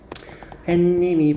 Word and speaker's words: 해님: 거지 한번 물어보자 그러면 해님이 반짝 해 플러스 님이에요 근데 발음 어떻게 나니 여러분들 한번 해 볼래 해님이 반짝 어 니은 나는 거 같네 니은 더 나는 거 같네 그럼 이건 사이시 써 줘야 될까 햇 님이라고 안 써 줘야 돼 왜냐면 님이 접사해 접사란 얘기는 합성어가 아니다 그럼 해님이 아니라 발음도 해 님으로 발음을 하셔야 돼요 어 우리 텔레 TV